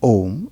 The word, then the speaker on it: Om: So, now, the general description of Om is that it's a three-syllable word with A, U, and M. Om. A, U, and M, which is Om.